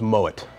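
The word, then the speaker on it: Moët: the time one is Moet Chandon people come and try to pronounce it Mo because it's French actually the name is a German descent so it's Moet much like Piper heik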